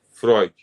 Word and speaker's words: Freud: dos textos freudianos porque embora você leia fre bem Você tá lendo aqui fre Mas você pronuncia Freud e o nome de